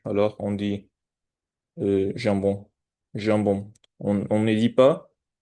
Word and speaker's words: jambon: Et, et en français, on les prononce avec avec un peu de friction avec notre langue et la partie supérieure de la bouche. Alors on dit jambon, jambon.